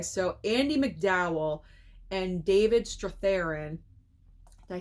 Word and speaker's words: Strathairn: So Andy McDowell and David Strathairn, did I say his name correctly? Yeah, David Strathairn.